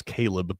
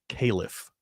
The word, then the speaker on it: Khalif: Also, Gonzaga's got that, it's spelled Khalif, but on broadcasts, I kept thinking this kid's name was Caleb because it's pronounced Caliph.